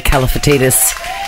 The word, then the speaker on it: Kalifatidis: two icons of our time Martha and Mary caltius did I say it right you always say